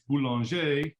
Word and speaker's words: Boulanger: pronounce the last name so if you want to be french and fancy it's boulanger uh if you want to cuddle up american style it's bulanger well is here